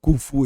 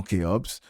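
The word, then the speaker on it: Khufu: C'est la prononciation non conventionnelle mais qui selon beaucoup d'études depuis de nombreuses années, on sait qu'on prononce euh Koufu et non KOPS puisque Kops, personne ne s'est appelé Keobs en Afrique.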